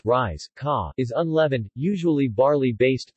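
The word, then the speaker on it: rieska: hoppin korppoo in Finland riska risk of pronounced rise kah is unleavened usually barley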